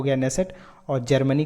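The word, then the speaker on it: Knesset: यहाँ पे के साइलेंट है लेकिन कहा जाता है द नेसेट.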